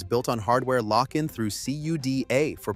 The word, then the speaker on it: CUDA: Hardware agnostic from Nvidia, the company whose entire empire was built on hardware lockin through CUDA for pronunciation.